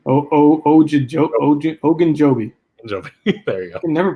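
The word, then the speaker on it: Ogunjobi: big ones you got fletcher cox and um ojinobi oh oh oh oh ogan joby there you go they never pronounce these names uh yeah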